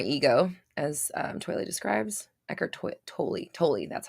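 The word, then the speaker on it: Eckhart: it was my ego as um twilight describes eckert that's how you say it totally totally that's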